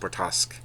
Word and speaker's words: Bortasqu: I believe it's pronounced Bortasqu.